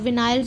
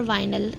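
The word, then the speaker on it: vinyl: विनाइल्स होते हैं। अच्छा, विनाइल और वाइनल, इन दोनों की प्रोनाउंसिएशन में भी बड़ा इख्तलाफ है। कुछ लोग इसको वाइनल कहते हैं, कुछ विनाइल कहते हैं।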